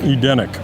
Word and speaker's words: Edeniq: I am here at how do you pronounce it? Edeniq? Edeniq.